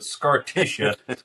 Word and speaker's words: Scartisha: That was hosted by the inimitable Scartisha, which is spelled kind of like Patricia at the end, but Scartisha, who was played by Annette Stutzman.